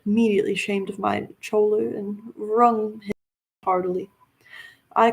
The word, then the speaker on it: choler: Choler, I don't know this word. What is this? Oh, it's choler. It's spelled Choler.